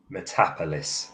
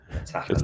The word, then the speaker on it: Metapolis: Metapolis, it's pronounced. Metapolis.